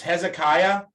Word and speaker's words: Hezekiah: Charlotte, can I have you to read this part where, and I'll give you the pronunciation thing that I gave everybody else. It's Hezekiah.